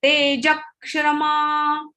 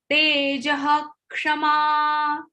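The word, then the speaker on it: تेजः क्षमा: You get confused and many times we say Tejakshama. Tejakshama is wrong. Okay. So wherever the after the visarga there is the letter ksha, the sound, the pronunciation of visarga is ho. Tejaha Kshama.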